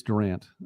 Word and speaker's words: Durant: And you know what, by the way, I appreciate that too, that you actually, it is Durant. Sometimes that's not always pronounced properly all around, but it is Durant.